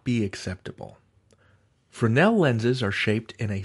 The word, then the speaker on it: Fresnel: that in the us you don't say the s you say it fresnel accent on the nel anyway we are trying